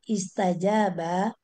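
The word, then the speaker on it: استجاب: Istajaba bentuknya kata kerja lampau. Aslinya istajwaba. Ja sukun berganti harakat dengan wa sehingga menjadi istajal istajauba. Untuk memudahkan bacaan wau berubah menjadi alif sehingga menjadi istajaba.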